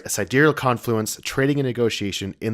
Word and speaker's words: sidereal: in the Elysium quadrant I say SideReel I know I did too at first and I think a lot of people did but then other videos I was watching for reviews they pronounced it correctly which is side aerial I'm assuming it's a